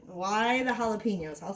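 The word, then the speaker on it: jalapeños: you but it just seems like why the Jalopy why in the jalapenos I'll say it right for you guys so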